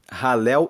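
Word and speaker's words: Hallel: encontramos um grupo de Salmos que se chama ralel egípcio ralel se escreve h a l l e l e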